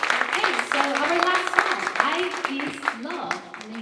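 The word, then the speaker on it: 爱: It's the same English pronunciation as I, to represent oneself.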